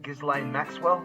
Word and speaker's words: Ghislaine Maxwell: Xander has ditched us again so that he can go to a protest rally for the release of, what's her name, Ghislaine Maxwell?